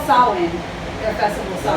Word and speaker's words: Samhain: It's called Samhain, their festival Is that how you Samhain.